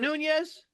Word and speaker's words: Nunez: It's spelled right. You're good. Oh, Okay. by the way, hey, Joe. Is it Nunez?